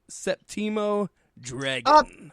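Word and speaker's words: Séptimo Dragón: Septimo Dragon. Septimo. Yeah, you said it right. Just emphasized it. It's like a septum piercing.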